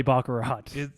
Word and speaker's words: baccarat: people love to play baccarat. Is it from somewhere else? I don't know. Is it baccarat? I think it's baccarat. I always say, okay, I thought it was baccarat. It rhymes with kakarot.